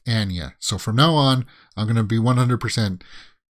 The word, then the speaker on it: Anya: It's not Anya. She said in one of these interviews, her name it's pronounced Anya.